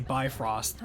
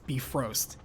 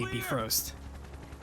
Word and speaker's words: Bifrost: Because you watch the MCU, you're gonna say Bifrost, but it's Bifrost. And even in Valkyrie Profile, they say Bifrost. And from what I understand, based on if you were to look it up online, that is exactly how natively it's said too.